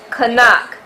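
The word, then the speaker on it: חנך: The Hebrew word for train up is kanak, pronounced kanak, spelled ket, nun, kaf sophie.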